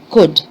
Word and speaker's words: could: people saying bulled and cooled but it is not okay the l here in this case is silent so what do you say you say would you say could i can help i